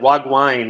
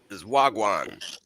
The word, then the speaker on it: wagwan: Hey, you know, you know, like because they're like probably like wag wine in Jamaican is like, "Hey, how's it going?" Or, "M, you butchered that, bro.